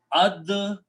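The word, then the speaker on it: الدهن: When we read them together, dal is the shamsi letter. It kills the sound of lam, but it makes it sound twice. So the final word is ad-duhnu.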